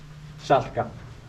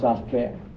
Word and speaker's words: Salka: S A L K A. Safka. Safka is an Icelandic woman's name but then I'm told by Irish historian then pronounced Safa later evolved to be Sarah acc.